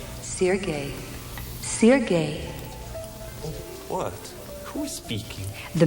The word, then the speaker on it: Sergei: How do you pronounce it? Sergei. Sergei, and I am Stefan.